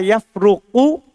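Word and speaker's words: يفرق: Kalau kita baca, bacanya adalah la yafruqu pakai qof terus rnya didamah, berarti itu jangan diceraikan.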